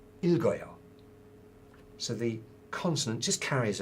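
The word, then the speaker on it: 읽어요: The polite form of that is pronounced as not ilg or yo, but ilgoyo.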